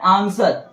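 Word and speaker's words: answer: नहीं हम अगला है आंसर है ना आंसर मैं डब्लू को नहीं पढ़ा रहा है पर पढ़ा जा रहा है आंसर नहीं पढ़ेंगे क्या पढ़ेंगे आंसर क्यों पढ़ेंगे क्योंकि ब्लू के पहले ऐसा है एन एस ब्लू आया है तो ब्लू का उच्चारण नहीं होगा यहां भी देखिए एस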